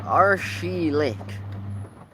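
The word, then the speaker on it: Arçelik: It's pronounced Arshilik.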